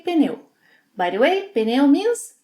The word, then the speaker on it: pneu: How do you pronounce this one? Some Brazilians say pneu, pneu. Others may say pneu, pneu. I say pneu.